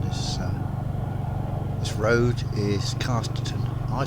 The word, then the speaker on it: Casterton: uh this road is Casterton. I say Casterton, but I imagine it should be pronounced Casterton. Because in the north uh A's are said with a short A, generally.